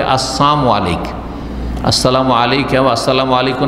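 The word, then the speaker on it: السلام عليكم: না বলে বলে আসসালামু আলাইক আসসালামু আলাইকা ওয়া আসসালামু আলাইকুম না বলে কি বলে আসসালামু আলাইকুম সালাম মানে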